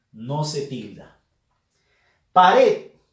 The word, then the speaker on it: pared: Pared. Fuerza de voz en la sílaba red. Última sílaba de la palabra. Termina en D. No se tilda.